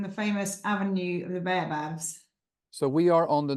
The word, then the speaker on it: baobab: Monique has asked, how do you pronounce the Baobabs?